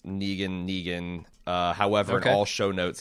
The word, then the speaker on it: Negan: They're pronouncing Negan as Negan. Okay. I mean, to be fair, he did create the character. He did name the character. Sure, but we also speak in English language where, we have words that have the knee sound, like Knee or Nee. Usually Neg is pronounced neg.